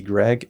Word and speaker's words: Gragg: Running back Ricky Gregg, it's pronounced Greg, right? Greg. Yeah. It's spelled Gragg, and I don't know this guy.